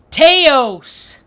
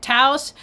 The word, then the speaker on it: Taos: I live in Teos, New Mexico. They don't like it when you say Teos. They pronounce it Taos, but to me, Teos sounds more podunk, and I live in a very podunk place.